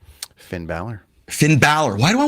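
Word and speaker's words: Finn Bálor: How do you pronounce his name? Finn Balor.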